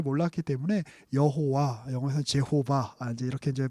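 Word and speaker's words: יהוה: 근데 이제 옛날에는 이제 그 발음을 정확하게 잘 몰랐기 때문에 여호와, 영어에서 제호바 이제 이렇게 이제 번역을 하기도 했었는데 보다 이제 그 좀 성경에 가까운 사실 발음은 야훼가 맞죠.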